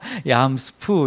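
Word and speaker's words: ים סוף: 이 홍해라는 뜻이 히브리어로는 얌스프 이렇게 되는데, 스프 이게 먹는 습이 아니라 얌스프 이렇게 발음하는데, 얌은 이제 바다고 스프는 이제 갈대라는 이제 뜻이에요.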